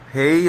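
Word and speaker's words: hej: Hey like H-E-J, hedge or hey in Swedish.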